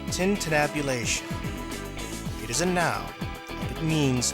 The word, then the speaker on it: tintinnabulation: do you know what it means word is pronounced tintinnabulation it isn't now it means the ringing or